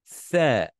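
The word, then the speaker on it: ث: some of you, because when you pronounce it, just imagine that this is your lips, okay, from the side view. This is your two lips. I'm not good in drawing, okay? Okay, your two lips. So when you're pronouncing, the tip of your tongue has to exit your mouth a little bit. There, there, there, there. Okay, this is the letter there. It makes the there sound.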